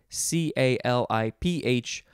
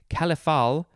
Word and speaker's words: caliph: Caliphal, you'd probably just pronounce it caliphal, is an adjective. And I actually, there's another pronunciation. It could be caliph. So there's caliph and caliph. I think both are good.